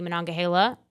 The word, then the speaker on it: Monongahela: It has the Monongahela. Thank you for pronouncing correcting the pronunciation.